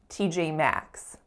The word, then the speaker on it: T.J. Maxx: the tense F sound t.j.maxx t.j.maxx final thing i want you guys to notice for t.j.maxx is which of those syllables is a strongest it is the final one max t.j.maxx so that is all